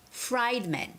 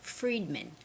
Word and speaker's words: Fredman: to fredman Law Firm now some of you might or could have WR that as fried men fried I mean like fried chicken fried but no you have to read that as fredman fredman okay so welcome to